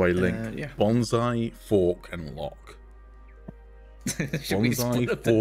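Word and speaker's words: loch: So a lock, did, as in which is water exactly lock, like is something we spelled L-O-C-H, but it's still pronounced lock.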